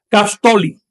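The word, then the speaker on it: caxtolli: El 15 se pronuncia Castoli.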